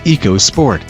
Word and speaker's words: EcoSport: The EcoSport, pronounced EcoSport, is a new subcompact crossover that will be offered in S, say, SES, and top-spec titanium trim.